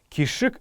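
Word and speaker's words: кишг: кишек кишек кишек никишка а именно кишек правильно произносится это слово кишек это какая-то благодать благополучие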